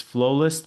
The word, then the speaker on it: Flowlyst: It's Flowlist, but it's spelled with Y, so it's f l o w l y s t. It's like flow catalyst, if you would.